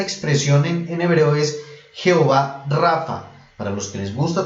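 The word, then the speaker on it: Rapha: tu sanador esa expresión en hebreo es jehová rafa para los que les gusta tomar apuntes s rafa se escribe r ap h como rapa con la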